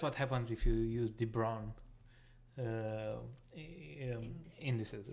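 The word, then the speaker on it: de Bruijn: It's pronounced de Brown.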